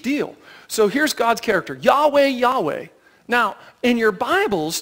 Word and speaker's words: Yahweh: historical way of hearing it but but it's Yahweh or Jehovah is another way to say it they're the